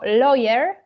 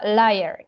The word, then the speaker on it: lawyer: o jednej rzeczy powiedzieć Uważajmy na wymowę bo tutaj pojawiło się słówko lawyer i żeby nie wymówić bo tutaj pojawiła się wymowa layer nie lowerrider niby podobna wymowa ale można tutaj się zakręcić ponieważ Liar to jest kłamca lawyer prawnik tak także żeby uważać na